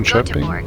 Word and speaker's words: Göteborg: Beautiful short flight from Gothenburg, or Göteborg as the locals say, is Sweden's second largest city and is known for its beautiful canals and rich maritime history.